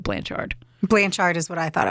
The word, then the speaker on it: Blanchard: Gypsy Rose Blanchard, and I say Blanchard, and I always have. And then I heard a couple interviews where they said Blanchard.